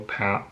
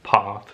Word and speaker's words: path: road footprints way trail path path path in american accent part in british accent but yeah i still